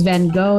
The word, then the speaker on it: Van Gogh: Yeah, the Dutch pronounce it with a guttural sound.